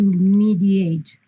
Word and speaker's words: mediate: So these letters, this ending, is only pronounced 8 when it is a verb. For example, to mediate. In this case, we pronounce 8.